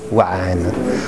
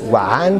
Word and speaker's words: 3NE: de l'arabe, et donc ce 3-N-E se prononce Wa'an, puisque le 3, en fait, que j'intègre à ma langue imaginaire, correspond à la lettre A, la lettre arabe A, qui s'écrit comme un 3, mais à l'envers.